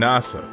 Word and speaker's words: Nasa: weird name being named nasa which japanese is pronounced like the space agency and he wants to